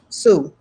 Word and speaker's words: Sioux: And my heritage is African American, and my grandmother was Sioux, so Native American as well. So yeah, nice. I've just learned how to pronounce a word now. I've only ever seen Sioux in writing.